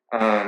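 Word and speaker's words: 鱼: fish carries as meaning uh like uh every year every old year every new year tops the old ones because of the pronunciation fish is pron is pronounced as u in China and U is also the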